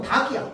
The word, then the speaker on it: 닭: 얘를 달로 얘기하는 사람 있어? 없잖아. 그러니까 얘는 우리가 무조건 닭이야. 닭. 닭. 마지막 받침 소리가 뭐야? 기억이야. 리을 아니야.